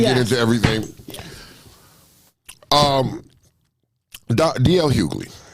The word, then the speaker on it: Hughley: into everything um D.L Hughley Right Said the g is silent yeah he said Kanye